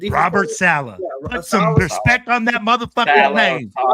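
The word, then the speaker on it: Saleh: Will the defense Robert Salah put some respect on that name.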